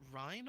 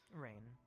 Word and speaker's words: Rain: Is it Ryan or Rain? Rain. Rain. Okay, got it.